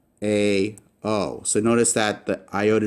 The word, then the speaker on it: ᾳ: This is called an iota subscript, and it doesn't really affect the pronunciation at all. So this is still pronounced a, o.